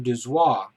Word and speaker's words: Dozois: Now, science fiction editor Gardner Dozois, that's spelled D-O-Z-O-I-S, popularized the term by using it